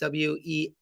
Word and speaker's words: Weintraub: That's Will Weintraub, I believe it's called pronounced Weinraub, and there it's hand size, palm size.